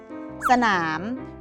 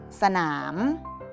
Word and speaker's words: สนาม: หนุน อ่าน ว่า ถนน สนาม มี อักษร สอเสือ นำ สะกด ว่า ศ. หะ สะ อะ หน. นามอร์ หนาม อ่าน ว่า ว่า สนาม ฉลาม มี อักษร สิ่ง